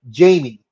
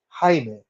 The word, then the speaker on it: Jaime: receptionist that tells Jaime she calls him Jamie and he said no my name is Jaime and she goes okay